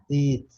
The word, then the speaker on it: did: Did. Sempre lembrando, Madalena, que a palavra é did, a letra é D. Did. É como se você fosse nordestino.